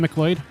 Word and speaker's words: MacLeod: Oh, it's not Kevin McAloy. It's Kevin MacLeod.